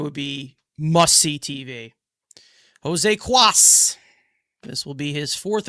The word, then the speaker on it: Cuas: Let me see if there's the pronunciation. Cuas. Cuas is his name.